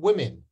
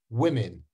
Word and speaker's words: women: woman women we actually when we change it to plural we don't change the r to an air uh well we do but you don't hear that what you hear is we actually change that o to an air sound I don't know why we do but we do woman women man men